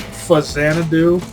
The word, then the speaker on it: Faxanadu: Kind of like how Faxanadu is actually intended to be pronounced Fazanadu. It's a portmanteau of Famicom and Xanadu, but how would anyone know that?